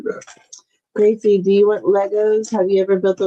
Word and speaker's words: Lego: I took off the S and faded it out and made it sound as much as of Lego as possible instead of Legos, without them knowing.